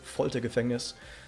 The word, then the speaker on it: Foltergefängnis: You pronounce it as Foltergefängnis.